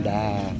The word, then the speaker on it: Kaindy: Kind kinda yun pala yung pronunciation like kind.